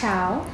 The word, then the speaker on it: Thao: as part of a tour with the artist whose name is pronounced... Thao.